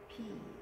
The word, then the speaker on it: phi: Phi. Phi. Phi. So name of the alphabet is Phi. The pronunciation is PH sound. Mm-hmm. Like a phone. Like a telephone.